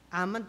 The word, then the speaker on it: almond: gawa iyang mga b ang ammon tree amand almond amand silent L daghan bita nagreklamo sa